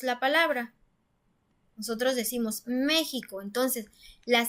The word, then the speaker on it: México: tampoco decimos méxico entonces si pronunciamos más fuerte la ante penúltima sílaba diría méxico entonces nos damos cuenta que la sílaba tónica si está en está en la antepenúltima sílaba nosotros diríamos méxico y es la manera